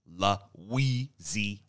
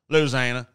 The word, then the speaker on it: Louisiana: but you know, like some people say it with five syllables like me. Louisiana, and other right. people just Louisiana. That's three. It goes that. Five to three.